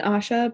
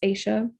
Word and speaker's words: Aisha: um asha aisha sorry i keep saying asha but it's aisha um so excuse me if